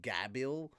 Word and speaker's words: Gabiru: It's called Gabiru, and technically gonna go with because of how they say L's in Japanese, technically it's Gabil. Okay, but so I blame the Gabiru.